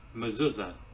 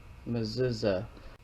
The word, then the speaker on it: Mechezah: the modern day Hebrew it says this is how you pronounce her name muza muuza so it does spell